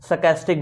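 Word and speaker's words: sarcastic: आर इसका silent लिया जाता है, सरकास्टिक बोलते हैं इसको।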